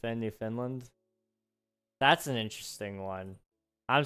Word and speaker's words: Newfoundland: Except Newfoundland.